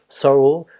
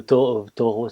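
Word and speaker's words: Thoreau: d'un auteur qui s'appelle Envy David Sorro ou taureau si vous voulez prononcer à la française enfin je pense que la vérité rend un peu entre deux c'est un auteur qui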